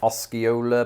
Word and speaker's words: Osceola: s can be deceptive osceola perhaps maybe that c is silent it's really like as in science and there is a